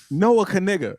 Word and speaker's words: Noah Kanega: His name is Noah K. Noah Kanega. That's how it's pronounced.